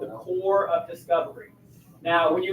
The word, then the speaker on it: corps: should say that word looks like corpse right something funny about english is we don't always pronounce all the letters i'm helping you be a smarter person don't ever say corpse that's not how you say that word it's called a core core of discovery some